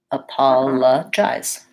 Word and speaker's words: apologize: and this I says it's name so it's an AI diphthong I and then a Z sound at the end and the e is silent so if we write